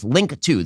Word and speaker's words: Linqto: Get started today with Link2, the premier platform for private equity investing. Link2, which is spelled Linqto, provides a streamlined solution for